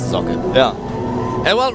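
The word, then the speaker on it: Socke: Not to be confused with Zaka, the German player who people say is Sock, but it's not correct. Yeah, it means sock, but it's pronounced Zocke.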